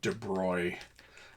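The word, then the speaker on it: de Broglie: things are moving on anyway this is the de broy um the name is spelled BR d space b o i l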